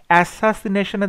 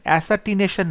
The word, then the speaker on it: assassination: অ্যাসাসিনেশনে দেখো এখানে বলছে অ্যাসাটিনেশন, অ্যাসাটিনেশন নয়, কথাটা হচ্ছে অ্যাসাসিনেশন।